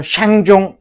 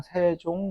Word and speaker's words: 세종: 받침이 없는 한자에다가는 요렇게 이응을 붙여. 그럼 저거를 붙였다고 해서 샹종 이렇게 읽으라는 소리가 아니야. 읽는 건 그냥 세종.